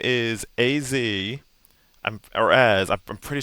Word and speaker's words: AZ: AZ. So, it is pronounced as two separate things.